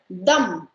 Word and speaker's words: dum: confusing right it's called dumb okay and i wanted to tell you this because a lot of places use you'll find a letter or u letter and it is pronounced as dum dum biryani okay next one